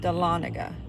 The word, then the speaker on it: Dahlonega: like the louisiana town names or whatever the dahlonega dahlonega that's how you pronounce it dahlonega dade county georgia borders chattanooga tennessee see tennessee